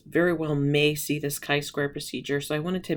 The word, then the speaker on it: chi-square: It says not chi square, never chi square, always chi-square. So that's how this is pronounced.